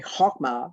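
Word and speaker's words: Chokmah: particular circle there which is called hessed sorry hogmar c-h-o-k-m-a-h clock my is also called the sphere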